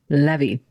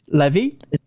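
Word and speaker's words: Lévi: evil the intent when is it is it Levi or levie or how do you pronounce the man's name who first came up with the symbol Levy Levy Levy it was LE it would be the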